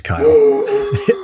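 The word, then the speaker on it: Kael: yeah yeah well that's not how he spells kyle it's he spells it k-a-e-l but it's gotta be pronounced kyle it could be cal kell maybe i'm gonna say he's kyle i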